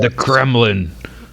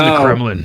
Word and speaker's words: Kremlin: Using Putin the French and the Kremlin. Say it like the MSM, the Kremlin. Putin and the Kremlin.